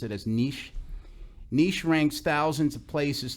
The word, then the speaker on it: Niche: a website identified as I think it's they pronounce it as niche Niche ranks thousands of places to live based